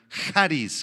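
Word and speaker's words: χάρις: La palabra gracia, apúntala, es la palabra griega charis, con X y acento en la A.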